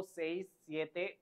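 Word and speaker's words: sesenta: then the same उनो दोस े quattro सिंको से सते ो नवे the same then move to द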